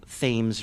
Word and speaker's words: Thames: They have a Thames River, and universally they pronounce it Thames. So we're supposed to really say Thames? We shouldn't feel so bad about for me. being Baltimoreans and that we're doing it wrong. It's just when we won the War of Independence, we started pronouncing things as they looked.